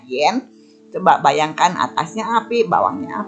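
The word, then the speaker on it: 炎: Ini bacanya yen.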